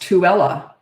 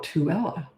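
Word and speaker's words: Tooele: else no never mind okay H oh it's pronounced tuella oh tuella I would not have guessed that tuella UT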